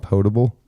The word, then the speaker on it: potable: That's pronounced potable. Potable water. It means drinkable. It doesn't mean you put it in a pot.